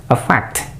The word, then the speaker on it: affect: Ditinjau dari pengucapannya atau pronunciation-nya, a fact itu bacanya dengan suara a fact. A fact. Huruf A-nya dibaca a fact.